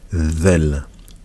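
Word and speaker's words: ذال: Et on la prononce, la lettre zel. Il faut sortir un petit peu la langue. Zel.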